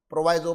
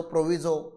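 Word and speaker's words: proviso: प्रोवाइजो, प्रोविजो, what ever pronunciation you make, कि usually bye and cell के time पे, दोनों के टाइम पे एसटीटी होना चाहिए।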